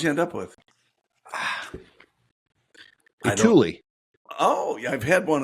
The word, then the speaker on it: Thule: Thule. Yeah. Is that how you pronounce it? I've heard it multiple different ways. I've heard Thule. I've heard Thule. I've heard Tool. But I like Thule.